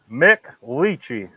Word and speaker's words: McLiechey: your last name again pronounce it Mick Lei with the L bo mlei boy okay